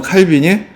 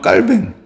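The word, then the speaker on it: Calvin: 안 좋아요 이게 왜냐면 칼빈이 프랑스 사람인데 그 프랑스어로이 사람 읽 읽으면 깔뱅 깔뱅이라고 읽어야 돼서 요즘 좀 유식한 사람들은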